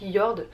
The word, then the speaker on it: Jord: Donc niveau accessoires, j'ai reçu ces deux montres de la marque Yord. Bon, ça s'écrit Jord J O R D mais ça se prononce Yord.